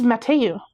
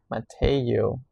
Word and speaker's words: Mateu: So you can just say Matthew. It's Mateu. Oh, Matthew. Mateu? Mateu.